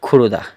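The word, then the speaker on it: 고르다: তাহলে বাংলায় যদি আমরা বলি বাছাই করা, কোরিয়ান এর অর্থ হবে গুরুদা। গুরুদা মুখস্থ করার পরে আমরা শব্দটিকে খুরুদা সঠিক উচ্চারণ করব।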